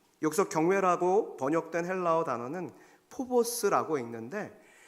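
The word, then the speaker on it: φόβος: 여기서 경외라고 번역된 헬라어 단어는 포보스라고 읽는데 막 무서움에 떠는 공포심이 아니에요.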